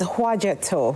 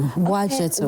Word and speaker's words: Houadjeto: Okay, so it's Houadjeto. Houadjeto. Like Ouagadougou. Oh! So the H is silent and the OUA is like a W. Houadjeto.